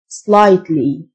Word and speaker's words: slightly: الجي اتش سايلنت slightly.